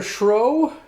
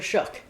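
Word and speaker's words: Shough: Tyler Schroe. Nope. Tyler Shuck. Shuck? Yeah. No, that doesn't say Shuck. Just look it up. That's how you pronounce it.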